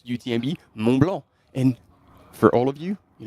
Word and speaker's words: Mont-Blanc: And for all of you, you know, if you nailed it, but the C at the end is silent. And if you say Mumblanc, he's like, "Oh, you're not from here."